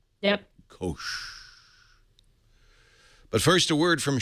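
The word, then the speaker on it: Koush: Kosh. Kosh. There's a U, but the U is silent. Yep. Kosh.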